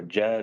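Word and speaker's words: djed: I apologize to any Egyptologists on the call, but I think it's pronounced jet or jed or something along those lines.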